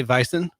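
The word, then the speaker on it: Weizen: like bison yeah except it's w and they pronounce it like a V you know like like Volkswagen like Volkswagen yeah Volkswagen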